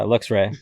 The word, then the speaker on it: Luxray: So one is Luxray. Yeah, that's how you say it. Yeah, Luxray.